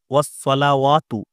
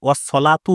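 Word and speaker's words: وَالصَّلَوَاتُ: এখানে দেখুন, আ আত্তাহিয়াতু লিল্লাহি ওয়াসসালাওয়াতু, ওয়াসসালাওয়াতু আছে এখানে। অনেকে ওয়াসসলাতু বলে, ওয়াসসলাতু বলে। সলাওয়াতুটা ওয়াওয়ের উপরে যে জাবার আছে, ওয়াও সহ জাবারটা পুরো ছেড়ে দেয়।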